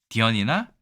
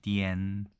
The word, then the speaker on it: 癲: 도년절이니까 네, 디언이라고 읽습니다. 디언이나 전이나 서로 통하는 거죠? 네, 그렇습니다. 실제로 이 발음은 네, 전도 디언도 아닌 디엔입니다. 디엔.